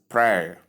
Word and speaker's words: prayer: add air, which becomes prayer. Another way you understand it is when you pronounce the word tear, you remove the T sound and you add PR, that is prayer. It gives you prayer.